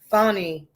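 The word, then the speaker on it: Fani: going to transpire um funny is how it's it's pronounced but i think it's spelled fanny so people tend to mispronounce it funny our fulton county va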